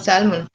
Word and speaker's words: salmon: No, I don't have salmon. Huh. Yeah, I think salmon. Salmon. Did not live. They say the L is silent.